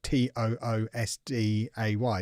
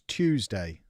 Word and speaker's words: Tuesday: The thing is, though, it's not Tuesday. It's not Toosday, is it? Tew. Tue. Tew. It's Tuesday.